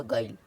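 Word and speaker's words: guile: जाता है तो जैसे जी यू आई एल ई तो क्या हो गया गाइल ये हमारा यू साइलेंट हो गया तो यू को नहीं पढ़ेंगे धर गिल्ड और गिल्ट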